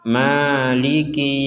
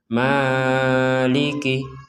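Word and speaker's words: مَالِكِ: boleh lebih dari itu jadi kita membacanya maiki yaumiddin Jangan sampai dibaca Maliki Maliki itu kepanjangan maiki yaumiddin kita lanjutkan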